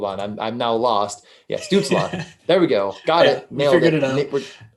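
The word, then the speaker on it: Stützle: like that uh goal prop on student or stutzel or wait i feel like obviously i said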